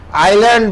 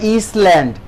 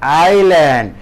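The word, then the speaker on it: island: দ্বীপকে আইল্যান্ড বলা হয়। তোমরা হয়তো মনে করবা স্যার এটা বোধহয় ইসল্যান্ড। না সোনা, দিস ইজ নট ইসল্যান্ড, এটা হলো আইল্যান্ড। এখানে এস এর উচ্চারণটা সাইলেন্ট থাকবে।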